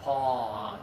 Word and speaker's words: pawn: And we're gonna touch the back middle of our throat. Ah, pawn. Pawn. That's right. Good job. Ah, ah, ah. Pawn. I always tell students, imagine you're getting in the shower after a long day. Oh, okay. Pawn. It's that sound. Pawn. That's it. You're going to open up and the sound comes from the middle back of your throat.